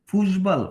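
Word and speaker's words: Fußball: ইসফিলে তুমি খেল ডিফিপিস ফুসবাল ফুসবা এটার উচ্চারণটা একটু নোট রাখেন ফুসবা বিটার উচ্চারণ হইছে ডাবল এস ফুসবা লিখে শ ফুসবাল এটা করে দিব সমস্যা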